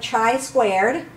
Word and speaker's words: chi-squared: P of chi-squared, that's how that's pronounced. It looks like x squared, but it is chi-squared.